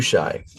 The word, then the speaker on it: Hushai: I forgot the pronunciation of that one already. H U S H A I Hooi. Hooi.